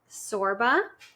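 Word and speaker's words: Csorba: But his name is Thomas Sorba. Cute. But it's spelled C S O R B A.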